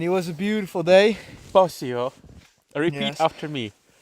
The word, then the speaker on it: Posio: Posio.